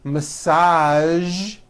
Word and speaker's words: massage: television very good now there are only a few words that have the voiced sound at the end a few of these words are the color beige the word massage and the war prestige okay now that you